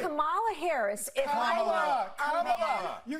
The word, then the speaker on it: Kamala: Let's start, lefties, with this almighty group meltdown on CNN because Nancy Mace allegedly mispronounced Queen Kamala's name. Watch this demented carry-on. And right. Kamala Harris, if Kamala.